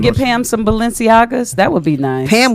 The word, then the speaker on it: Balenciaga: it's pronounced what? You sound like you're German for a minute. I can't see. It's Balenciaga.